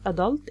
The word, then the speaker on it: adult: The last word here " 'Adult" or "a'DULT". it's a noun. The stress is on the first syllable 'Adult gives the British pronunciation while the stress on the second syllable a'DULT gives the American pronunciation.